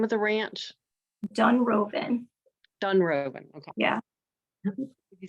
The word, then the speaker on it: Dunrovin: Dunroven. Dunroven. Okay. Yeah. You spell it.